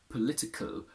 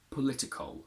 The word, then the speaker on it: political: english we do so in the past we would say political where are very close together whereas now we say political we add a little schwa between and at the end